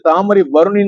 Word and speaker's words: தாமிரபரணி: ஆணித்தரமாக சொல்ல விரும்புகிறேன் ஆகவே முதலில் நம்மளுடைய உச்சரிப்பு வந்து தாமரை பருணி தான் இருக்கும் இந்த புஸ்தகத்துல பாருங்க தாமிரப